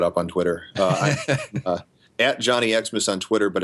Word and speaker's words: Johnny Xmas: I'm at Johnny Xmas on Twitter, but it's spelled all leet.